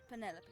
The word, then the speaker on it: Penelope: Officially, yes, but I never can be bothered with all 4 syllables of it. Penelope sounds a little...